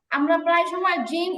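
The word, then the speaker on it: جيم: কিন্তু আরবিতে যখন আমরা জিম বলবো, তখন হচ্ছে জিহ্বাটার পুরো আগা না, আরেকটু মানে মাঝখান থেকে উপরের দিকে লাগে। এই জন্য উচ্চারণের মধ্যে একটা ভাব আসে অন্যরকম।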